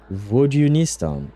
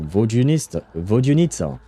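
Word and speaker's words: Vodyanitsa: Vodunista. Oh, is there a U sound in there? Vodunitsa.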